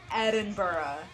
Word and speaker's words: Edinburgh: I do get to come all the way up to Edinburgh.